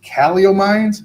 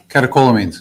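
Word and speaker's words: catecholamines: The CEW allegedly causes great pain and this led to increased calomines. How do you say that? Calio, maybe you can help me out. Okay, thank you. Catakolamines. Calakolamine.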